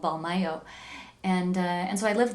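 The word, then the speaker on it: Mbalmayo: in a town called balmayo and that's spelled with an m as in mic and a b as in bravo for the first two letters it's called ball mayo and and so i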